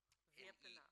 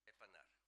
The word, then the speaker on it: Wepener: Wepener. N-E-R, Justice. Would you please pronounce it for me? Wepener.